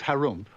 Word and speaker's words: Harump: In the land of Harump, which is pronounced like when you clear your throat, there lived an ogre.